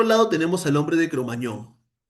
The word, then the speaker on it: Cromagnon: tenemos al hombre de Cromañón el hombre de Cromañón, se escribe Cromagnon que es nuestro antepasado Ese sí es nuestro eslabón, pero no perdido.